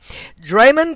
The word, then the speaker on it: Draymond: for reduction draymond and his name is spelled d-r-a-y-m-o-n-d like drama but it's draymond draymond green equates to